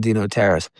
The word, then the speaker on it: DeNotaris: Jernigan, my name is Dino Terrace." He said, "Spell that, please."